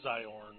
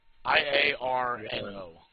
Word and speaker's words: Iarno: Yeah, so maybe Glassstaff is Iorn or Eorn or I can't remember how to say his name. Yeah, Iorn. Iarno. I-A-R-N-O.